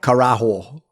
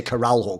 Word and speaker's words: caralho: caralho by the way you actually do say it like Karo K Karo or something right I just say caral HW cuz